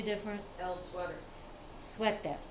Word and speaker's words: suéter: And they pronounce it very much like we pronounce it, but they spell it slightly different. El Sweater. Suéter. Suéter.